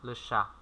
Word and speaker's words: le chat: T không đọc nhá. Sha. Le chat. Đó, lơ sha.